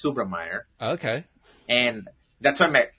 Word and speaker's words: Subrameyer: subam Manan and whis Meer and now it's subra Meer okay and that's why my company name is